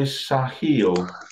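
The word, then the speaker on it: Sahel: Yeah, I pronounce it Suhel. How do you pronounce it? Wrongly, probably. I'm going to say Sahil. I've heard it pronounced both ways.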